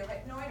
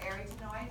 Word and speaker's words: arytenoid: All right, and these are the arytenoid or arytenoid, depending on how you want to pronounce them. Arytenoid may help you remember how to spell it. Arytenoid is how they're most often pronounced.